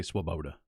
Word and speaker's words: Svoboda: they couldn't do to Svoboda. I missed it again. Svoboda. Svoboda? I don't think the V is pronounced. I think you just say Swoboda.